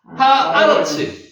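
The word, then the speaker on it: הארץ: 하에르츠. 하아르츠. 하아르츠. 에르츠가 앞에 있는 하 때문에 아로 발음이 됩니다.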